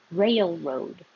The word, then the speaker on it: railroad: Railroad. This one isn't really three syllables, but I wanted you to think of making your tongue go very high for ray and then sliding down for the L.